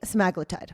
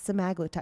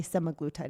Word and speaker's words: semaglutide: We're talking about weight loss medications, specifically Semaglutide. That is how you pronounce it. It's from Novo Nordisk, the maker. It's Semaglutide, because I hear people say Semaglutide as well.